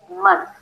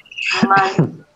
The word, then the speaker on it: month: This month. Bird, The NTH together, so place your tongue on the teeth for the N. Month.